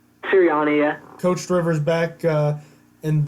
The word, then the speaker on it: Sirianni: Head coach Frank Reich and offensive coordinator Nick, how do you say that, Sirianni? Sirianni, yeah.